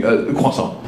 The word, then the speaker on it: croissant: Question, how do you feel as a French person about Americans mispronouncing croissant?